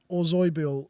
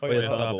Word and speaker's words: Oyarzabal: Wait, what's he called? Oyarzabal. That's how my dad would pronounce Yeah, it. but the thing is, you've said it, and it makes it no easier to come back. You could just say Oyarzabal.